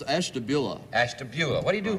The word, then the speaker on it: Ashtabula: Hank Stein from Esther blue how do you say that it's Ashtabula Ashtabula what do you